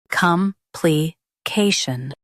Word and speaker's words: complication: Stress the K syllable and keep shun light.